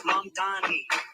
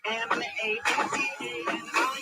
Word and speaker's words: Mamdani: Mamdani. M-A-M-D-A-N-I. You should learn how to say it. M-A-M-D-A-N-I. The name is Mamdani. M-A-M-D-A-N-I.